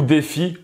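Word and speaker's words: DeFi: de dix fight alors vous le prononcé dix failles en anglais ou défi en bon français l'abréviation de ce que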